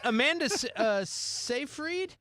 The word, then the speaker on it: Amanda Seyfried: Yeah, that's and what I'm like Amanda Seyfried, yeah.